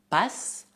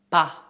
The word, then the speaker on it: pas: O S final é mudo. Não dizemos pas, mas pas. Pas.